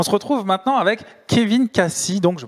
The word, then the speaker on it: Kaci: On se retrouve maintenant avec Kevin Cassi, donc je prononce bien, pas d'erreur.